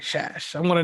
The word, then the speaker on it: Szasz: And the way I was going to chop your name up, at first I was going to say it.